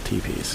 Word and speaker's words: teepee: Because I pronounced it tepi, but I know it's actually pronounced teepee.